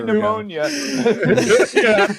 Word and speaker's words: pneumonia: what do you no it's a silent P not a silent M that's so stupid Russ